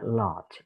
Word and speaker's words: large: Bacanya large. R-nya nggak perlu dibaca.